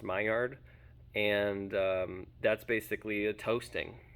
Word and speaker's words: Maillard: and that's called a Maillard reaction. It's spelled kind of like mallard, like the bird, but it's pronounced Maillard, and that's basically a toasting is what's taking place.